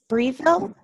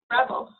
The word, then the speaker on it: Breville: Breville. Breville. Thank you. Breville.